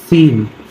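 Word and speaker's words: scene: जब यस के बाद सी आता है तब सी का उच्चारण नहीं किया जाता है।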